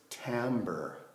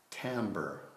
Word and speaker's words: timbre: It's not timbre, it's not timbre, it's timbre, timbre, okay? So it's like the word amber, but with a T at the beginning, okay?